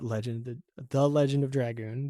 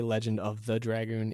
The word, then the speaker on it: The Legend of Dragoon: You're gonna hear me say the name wrong a lot. That is because as a kid I misread the title and it stuck, and I just realized that I was saying it wrong my entire life. While recording this. So it is supposed to be The Legend of Dragoon. I always say Legend of the Dragoon.